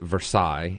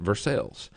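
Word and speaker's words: Versailles: town called versailes Kentucky Now everywhere else in the world they pronounce it versailes and here in Kentucky they pronounce it versales so I actually live in versales Kentucky so I a huge believer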